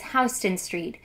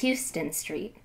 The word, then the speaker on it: Houston Street: for mispronounced words what self-respecting New Yorker could bear to follow along to an audio book in which the narrator repeated pronounces hon Street as Houston Street I also hate the